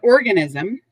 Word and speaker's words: organism: i m organism an organism three syllables even though it looks like four syllables over here it's three syllable organism is a noun and